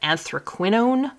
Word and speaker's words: anthraquinone: So this is anthraquinone carmine. That's how you say that. Anthraquinone carmine.